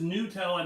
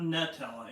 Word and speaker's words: Nutella: So it's like Nutella. Yeah. I am not a fan of Nutella. It is Nutella, not Nutella, in case you were wondering. Some people call it Nutella.